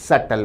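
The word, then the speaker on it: subtle: Option A कहता है सटल difference. विद्यार्थी ध्यान दें, शब्द का उच्चारण है सटल, बी साइलेंट रहेगा।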